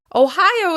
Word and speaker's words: Ohio: Let's talk about Ohio. Ohio. Ohio is stressed on the second syllable.